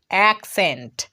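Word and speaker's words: accent: একটা জিনিস ভালোভাবে লক্ষ্য করো, এখানে কিন্তু আমরা ডাবল সি পেয়েছি, কিন্তু ডাবল সি এর উচ্চারণ শুধু ক করছি না, এখানে একটা সি এর উচ্চারণ ক হচ্ছে, আর একটা সি এর উচ্চারণ দন্ত স হচ্ছে।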